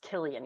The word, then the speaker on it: Cillian: Starts like Killian, that actor is pronounced Killian, even though it's like Cillian.